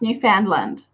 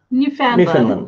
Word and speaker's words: Newfoundland: Newfoundland. Newfoundland? Newfoundland.